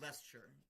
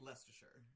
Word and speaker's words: Leicestershire: Yeah, that Leicestershire. that like 12-letter word? Leicestershire. Oh, Leicester. I thought this whole thing. Well, because Leicester's the city, and then Leicestershire, I guess, is the county or whatever.